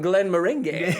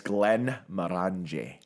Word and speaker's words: Glenmorangie: for for the show now you can know you can say it's Glenn moranji that's how you say it and I I